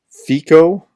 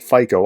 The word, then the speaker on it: Fico: So we talked about Prime Minister Robert Fico. Greg Terry called it FICO. I called it Fico. We were both wrong. It's actually Fico or Fica or something along those lines.